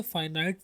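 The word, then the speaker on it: finite: कुछ लोग इसको फिनिट भी पढ़ते हैं और नॉन फिनिट भी. तो both of the pronunciations are accurate. आप जो सी मर्जी फॉलो कर लें.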